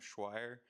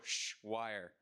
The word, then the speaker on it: Schweier: so the pronunciation of schweier uh it's like you're shushing wire that's the best way i've found to explain it so just go sh wire so uh my major